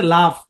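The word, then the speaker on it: laugh: হাসা শব্দের ইংরেজি হচ্ছে লাফ এল এ ইউ জি এইচ এখানে দেখেন জি এইচ এর উচ্চারণ এফ এর মত লাফ কি উচ্চারণ লাফ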